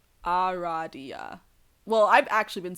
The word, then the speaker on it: Aradia: okay here we go all right it is pronounced a good name Aradia well I've actually been saying it like that